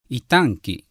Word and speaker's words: itanki: So the following words all have the accent on the second syllable: kamuy: spirit, god, bear reye: to crawl itanki: bowl iyayraykere: thank you